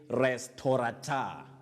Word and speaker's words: restaurateur: Well, you say restaurateur, a restaurateur. And a restaurateur is a person who owns a restaurant, or if you like, a restaurant.